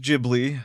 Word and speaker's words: Ghibli: It's actually pronounced Ghibli, so yes, deal with it.